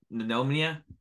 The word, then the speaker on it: pneumonia: Disclaimer, he does have, he had dealt with pneumonia. Can't say it. And pneumonia? Pneumonia, yeah. Yeah, pneumonia. What'd you pneumonia. Say? Pneumonia. It's not pneumonia. There's, I think it is spelled with a P, isn't it?